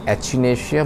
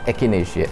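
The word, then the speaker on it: Echinacea: ठीक है, सबसे पहले हम इस कॉम्बिनेशन में there are 3 mother tinctures will bring in एकिनेशिया। Some people pronounce as एचिनेशिया, both are correct, actually it इज़ एकिनेशिया।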